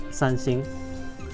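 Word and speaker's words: 三星: So in a way, yes, because the Chinese pronunciation of Samsung is Sanxing.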